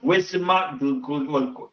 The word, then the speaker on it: Leguizamo: John Leguizamo, Sid the Sloth.